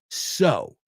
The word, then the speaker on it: coser: People want to pronounce it sew. And I get it, the EW thing. But it's not. It's sew.